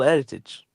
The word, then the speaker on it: heritage: But as your goat says, H this this is football heritage. This heritage is what's why United are in this final. Why? Why? The next time you don't pronounce the H.